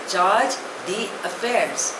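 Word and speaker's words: chargé d'affaires: एफ ए आई आर ई S pronunciation is चार्ज द अफेयर्स इट इज अ French word it means that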